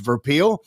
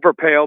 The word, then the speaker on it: Verpaele: It's uh it's Verale, but don't worry, no one.